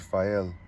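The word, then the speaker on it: Phail: She pronounced the word Fael slowly.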